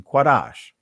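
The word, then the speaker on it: קדש: the word sanctified right the hebrew word is quarash right that's the primitive root quad some of you guys say kodesh actually the primitive root is quarash the ancient pronunciation quarash it means clean consecrate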